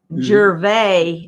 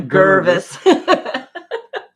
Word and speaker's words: Gervais: It's Gervais, not Gervis.